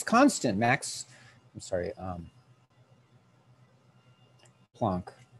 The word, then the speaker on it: Planck: max i'm sorry um plonk i keep pronouncing it plank but it's the planck's constant right this is our constant